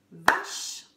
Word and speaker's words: vache: Vache, vache. Une syllabe. Vache. On le met dans la maison du 1. À l'oral, on ne prononce pas le E final dans le nord, toujours.